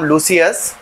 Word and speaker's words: Leucinodes: সেই মহাশয়কে নিয়ে আজকে আমাদের ভিডিও যার নাম লুসিয়াস অরবেনালিস। এই লুসিয়াস অরবেনলিস এর মধ্যে এইযে লুসিয়াস কথাটা আছে না এর ডিটা কেন সাইলেন্ট আমাকে জিজ্ঞেস করবেন না।